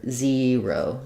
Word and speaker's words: zero: er, zer- zero, it has the ear diphthong. So, you can think about it like zer- zero, zero, or, um, I would probably I tend to say it with the r on the first syllable, zer- o, zero. Um, you'll see it like this in the IPA. So, this this e er combination, we have in words like fear, tear, etc., zer- zero.